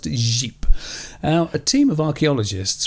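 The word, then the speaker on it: Říp: of jeep that's spelt rip uh but it's pronounced jeep now a team of archaeologists from the university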